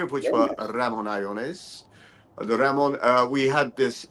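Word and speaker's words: Ramón Allones: It was the Ramon Iones. Some people like to call it Ramon Alones, but Iones.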